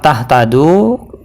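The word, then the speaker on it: تهتدوا: berharakat dhah ketika diwaakaf Bagaimana cara bacanya yaitu dengan cara panjangkan huruf Dal dua harakat seperti pada Mad thi'i contoh ini terdapat dalam surah Albaqarah ayat 135 jadi lafaz tahtadu ketika diwaakafkan seperti ini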